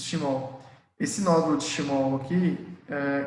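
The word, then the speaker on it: Schmorl: chamado de nódulo de Schott. Eu esqueci como é que é a pronúncia aqui. Schmoll. Exatamente isso, Schmoll.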